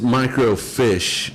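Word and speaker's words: microfiche: anymore and so so it's micro fish not like swimming fish it's spelled Mi oh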